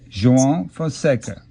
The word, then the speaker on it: João Fonseca: Because if you remember a while back, the beginning of this year, I was learning how to pronounce the name of a very good young Brazilian player. João Fonseca.